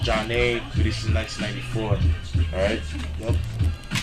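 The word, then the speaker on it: Zhané: Zhane, Pronounced Jah-Nay, released in 1994.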